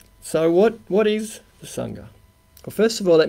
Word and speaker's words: sangha: what what is the sangha well first of all let me say that even though it's spelt with an a it's not sanger because that's an aussie sandwich so we're not talking